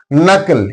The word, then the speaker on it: knuckle: Knuckle here N comes after K. That's why K is silent.